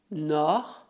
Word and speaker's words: nord: Exceto le nord, todas as outras consoantes finais devem ser pronunciadas.